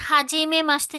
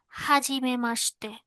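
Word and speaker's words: はじめまして: আচ্ছা, তাহলে এই দেখেন, এখানে একটু দেখেন, হাজিমে মাসতে যেটা বললেন, আমার উচ্চারণের ক্ষেত্রে এভাবেই টোনটা উপর থেকে নিচে নামলো। শুরুটা খুব ভদ্রভাবে, মাঝখানে একটু একই রেঞ্জে গিয়ে লাস্টে দিয়ে টানটা দিয়ে নিচের দিকে নামলো।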